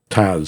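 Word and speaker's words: TASS: somebody talking about the Taz unit uh it's pronounced they pronounce it Taz it's t-a-s-s and it stands for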